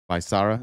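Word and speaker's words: Becerra: Bisara.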